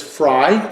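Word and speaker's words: Frey: very jazzed about that some people pronounce this fray but it is Frye that's how they say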